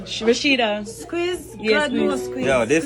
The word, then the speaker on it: SQUIIZ: follow Squeeze on IG. It's spelled just like that.